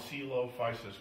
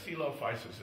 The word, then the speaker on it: Coelophysis: oh this came from oh it's called the celop fisis quy yeah celop fisis is spelled right in back c e l o